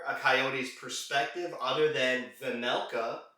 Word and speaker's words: Vejmelka: coyote's perspective other than vanelka where the jay is silent playing on his best